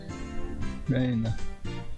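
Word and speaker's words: 礼奈: Reina. Okay. レイナか。 Reina instead of Rena. Okay.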